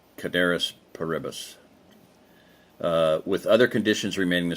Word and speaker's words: ceteris paribus: Ceteris paribus, or Cateris paribus, technically. I took Latin for 4 years. I know how to pronounce these things, but it looks like Ceteris paribus in English, so we'll say Ceteris paribus. That's what Michael Bunker called it. Actually, in Latin, a C is a hard K.